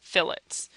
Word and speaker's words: fillets: to draw what are called fillets it's spelled like fillet but it's not a stake and it tells me